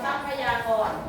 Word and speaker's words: ทรัพยากร: โซ ซ อะ ซะ ซะ ค พ พาน สะกด ใช่ มั้ย เข อ่า พย อา พยา ก กา กก กรกร ทรัพยากร ทรัพยากร ค ทหาร กับ ร เรือ อ่าน ออก